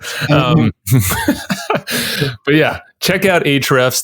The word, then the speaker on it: ahrefs: but yeah check out ahrefs that a is silent it's a-h-o-r-e-f-s-com i've been wanting to say that for a while a-h-r-e-f-s dot com ahrefs seven